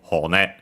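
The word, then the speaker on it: 骨: Actually, accent on the last syllable, so Hone. So yeah, Hone Metto.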